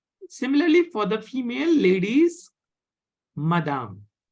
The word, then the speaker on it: madame: for the female ladies madame madame madame Madam madam not Madame Madame no there is no hard sound okay madame okay